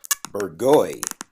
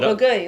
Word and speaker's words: Bourgogne: Bourgogne. One of those not easy, nightmare things so- that nobody on the planet can pronounce.